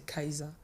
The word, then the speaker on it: Kaihza: Donc la prononciation de, c'est Kaisa. Oh. Donc du coup, ma mère a écrit comme ça fait genre Keza. Ah, mais c'est joli, c'est original.